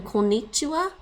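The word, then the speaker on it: こんにちは: Like actually in konnichiwa, there's actually that extra N. So you have to, so normally when you type konnichiwa on the keyboard, you have to type that extra N, right? That's the first syllable. And then ni, and then chi, and wa. It's pronounced wa in modern Japanese. Originally it was ha.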